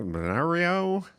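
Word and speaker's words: Bernalillo: I don't even know how to pronounce this first one. Benar Benario, New Mexico.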